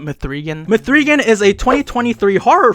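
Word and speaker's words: M3GAN: I think it's actually pronounced Megan, but I'm just gonna call it Mithrigan.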